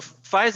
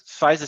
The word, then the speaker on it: FISA: be scared or shouldn't i be scared so fize is interesting and by the way that's the actual uh pronunciation of it so it's the u.s it's fiza stands for the u.s foreign intelligence surveillance act